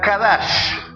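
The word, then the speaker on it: qadash: usaban la raíz hebrea, que era con K de kilo o de quiosco. era kadash.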